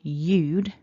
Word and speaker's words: you'd: However, when we contract to eude, as always, we need to lose something. So we lose our h and our a, and we're left with eude.